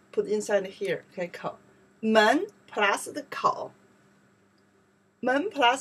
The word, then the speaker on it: 门: This character we pronounce the kou. Mouth. Kou. Yes. Kou. Okay. Kou. Kou. Put inside here. Okay. Kou. Men plus the kou.